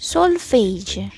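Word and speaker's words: solfège: We are looking many get wrong mispronounce. So make sure to stay tuned. Sulf is sulfage.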